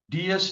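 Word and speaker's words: Dias: And your last name would be how do how do you want to pronounce it? Diaz.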